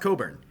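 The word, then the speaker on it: Cockburn: you have the name Craig Coburn okay it's pronounced Coburn uh but even worse this is this might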